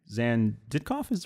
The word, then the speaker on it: Xan Ditkoff: to be talking to zan zan did coffee's right way to say that nailed it alright to make sure